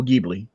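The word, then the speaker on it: Ghibli: i' say look up look up uh studio gbi um GI okay yeah yeah and and remember it's spelled with a g h i b l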